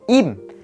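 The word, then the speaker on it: 임: chỉ có một họ đó chính là họ Im. Thì ngộ một cái là rõ ràng chữ này là chữ Y và M, là Im ghi là Im đi, mà người thích phiên âm là chữ Lim mình cũng chẳng hiểu tại sao.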